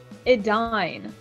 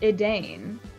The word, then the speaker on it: Edain: Because, like, it's pronounced Edain, but when I read it, I pronounced it Edain.